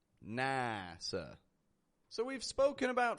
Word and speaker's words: NASA: And work on getting a nice clear ah versus an A sound. NASA.